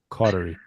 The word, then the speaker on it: Caudery: Molly cordery under Molly Cordery. Okay. And then it's cordery. Yeah, it's I was saying cordery, but no, it's it's close. Cordery is easy, but cordury is how it's spelled. Cautery.